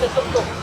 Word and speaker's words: tuk-tuk: a fun story about tuk-tuks. - Thai has many different tones, right? - A local taxi is called a “tuk-tuk,” - but if you pronounce it differently like “tut-tut,” - it can mean “ladyboy.”